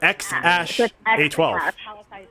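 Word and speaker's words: X Æ A-12: It's literally X. And then what, AE, or however you pronounce that? And then it's like an italicized AE, but it's Ash. Ash.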